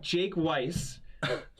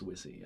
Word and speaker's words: Wisse: sit Seton kazi's yeah it sounds like was he so actually mispronounced it it's actually it's wizzy that's done you should